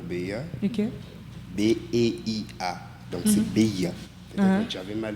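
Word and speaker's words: Beia: Donc, c'est Béa. Peut-être que j'avais mal prononcé.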